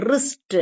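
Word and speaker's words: wrist: பவ் அப்படிங்கறத அழுத்தி சொல்லிக்கணும் இப்போ சைலெண்ட் டபள்யூ வேர்ட்ஸ் டபள்யூ வந்து இங்க உச்சரிக்க படாத வார்த்தைகள் ஓகே அப்ப எழுத்து டபள்யூ இருந்தாலும் நம்ம ரைட் ராங் ரிஸ்ட் அப்படின்னு எல்லாம் சொல்லக்கூடாது சொல்றது இல்ல இந்த டபள்யூ வந்து சைலெண்ட் ஆயிடும் அமைதியா இருக்கும் உச்சரிக்கப்படாது அப்ப எப்படி உச்சரிப்போம் வெறும் ஆர் ஐ டி ரைட்டு ஆர் ஓ என் G wrong or ஐ எஸ்டி ரிஸ்ட் அப்படின்னு படிப்போம் அப்ப இந்த w வந்து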